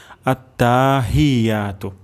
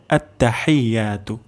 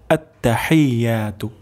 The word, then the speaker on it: আত্তাহিয়াতু: প্রথম শব্দটি হলো আত্তাহিয়াতু। আত্তাহিয়াতু, এখানে আমাদের একটা ভুল হয়ে যেতে পারে, আত্তা টান চলে আসতে পারে। আমরা এখানে টান দিব না, আত্তা দ্রুত পড়ব, আত্তা।